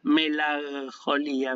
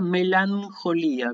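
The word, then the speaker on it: μελαγχολία: Y esto no se pronuncia melancolía, porque no suena, uno le cuesta hacer el sonido y a los griegos también le costaba. Así que esto se pronuncia melancolía con N, o sea que la combinación, recuerden, gamma ji se pronuncia NJ, ¿sí?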